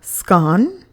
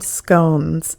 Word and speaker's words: scone: there are some that call it scon rhyming with gone-gone but I call them scones so I don't know